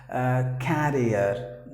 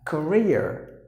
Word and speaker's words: career: But some of us actually, not some, majority of us pronounce the word as carrier. No, please don't do that. It's like not long sound. You have to use the short sound like a. Career, like this, career, like this, Korea. The letter R is also silent, so Korea, that's how you have to pronounce.